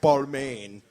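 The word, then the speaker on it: Balmain: Bal balain Fashion Show balain is how they say it in the fashion world and uh yeah some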